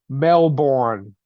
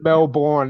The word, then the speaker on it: Melbourne: That's like Melbourne. It's not Melbourne, it's Melbourne.